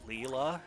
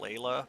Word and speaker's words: Leela: cave that Mr uh Leela is what they're calling it I I fairly certain most of us would try to pronounce that Leila but they haven't been so Leela it is be free I don't